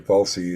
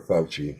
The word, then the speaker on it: Fauci: Fauci is one example of that, or Fauci, I guess is how it's totally accurately pronounced.